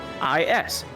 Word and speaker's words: IS: Nickname IS. Pronounced like the word is.